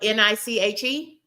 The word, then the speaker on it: niche: Spelled N-I-C-H-E. Niche, spelled N-I-C-H-E, but we pronounce it niche.